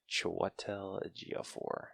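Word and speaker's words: Chiwetel Ejiofor: one second show what tell el a geofor that sounds right i know his name is hard to say okay i had a google pronunciation with that one choitel a go4 who played baron mordo and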